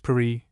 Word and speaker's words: Paris: Budlong had raved over the places she was going to travel, Paris, now pronounced Pereie, London, Vienna, St.